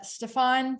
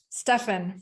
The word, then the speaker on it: Stefan: and that is uh stefan from sprout city farms and i just realized that i pronounced your name incorrectly stefan from sprout city farms so welcome thank you